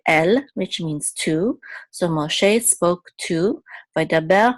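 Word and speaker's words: משה: is silence this is this is a pashta which shows that the accent is on the last syllable Moshe so this means Moses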